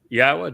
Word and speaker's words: Yahweh: We uh are the first to prove that it is pronounced Yahweh.